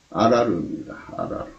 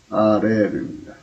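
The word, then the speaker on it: ארר: 이 저주가 히브리어 음력으로 아라르입니다. 아라르. 알겠죠? 아라르. 저주가 아라르입니다. 근데 요거를 아자를 애자로 해서 발음을 하면 아레르입니다.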